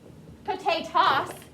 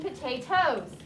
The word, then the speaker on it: potatoes: so it becomes potatoes what that e is telling you is that when you read this word you still have to say the o as a long o sound because remember silent e makes the uh the vowel long so that's all they're telling you not that this is the word z ross or potay toss it's zeroes and potatoes there's no such thing